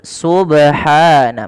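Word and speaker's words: سبحان: kesalahan yang kedua dalam membaca qqal adalah menambahkan Hamzah contoh sub subh subh atau Subhana gitu ya Ada nambahan Hamzah ini juga salah sehingga tidak boleh kita membaca qalqala dengan tadi ya harus bagaimana cara baca yang betul Subhana menghilangkan tadi dan tidak putus subh di sini kalau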